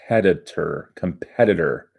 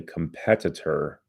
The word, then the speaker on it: competitor: Not easy to pronounce for everybody. Competitor. It's one of those words you can't say too slowly. If you do, it sounds weird. If you say competitor, no one pronounces it that way. It's competitor.